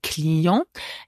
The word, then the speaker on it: Client: i e n t the final T is not pronounced a CLE and the plural is